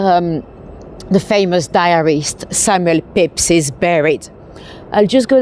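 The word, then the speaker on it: Pepys: it's a bit less lorry I am on pep street by the way well Pips technically because it's after Samuel Pips so p s Pips it's spelled Pepes but it's pronounced Pips tar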